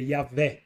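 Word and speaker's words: YHWH: uma palavra difícil que nós podemos dizer yahvé mas no hebraico ela é constituída pelas letras y H W E H Então ela é uma palavra que não tem pronuncia é como um sopro um sopro Deus é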